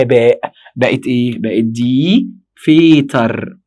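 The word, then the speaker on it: Väter: بقت دي فيتر. خلي بالك من فرق النطق. دير فاتر دي فيتر، دير فاتر دي فيتر، في فاتر فيتر.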